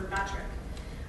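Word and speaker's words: Myrbetriq: So that's what I used for the pronunciation on some of these, including this one. So this is Mirmegron or Mirmetric.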